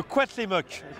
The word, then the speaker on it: Cuauhtémoc: Je vais te laisser prononcer son nom. Ouais. Ça a l'air très compliqué. Alors c'est le Cuauhtémoc.